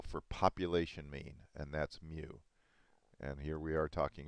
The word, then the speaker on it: mu: about this symbol here this symbol is a greek letter called mu spelled m u pronounced mu and it stands for